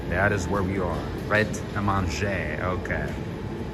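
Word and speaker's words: Pret A Manger: Pret-a-Manger. Okay. You don't say the R, right? The R is silent.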